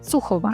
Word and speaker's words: Sukhova: And today I'm talking with Sukova. Did I get your last name pronounced right? almost perfectly right. Okay. What is it? Sukova or Suova? I would Okay. Sukova.